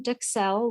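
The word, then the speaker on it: duxelles: So you've got your mushroom duxelle, which we talked about. I looked up the pronunciation on duxelle. Duxelle. A U in French has a very ooh. Ooh, duxelle, so not duxelle.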